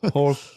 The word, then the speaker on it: Holt: Turn point one Holt Holt, that's right. It's an H. You're a Frenchman a French you don't pronounce the H. It's Yeah. Holt Holt Holt, that's right.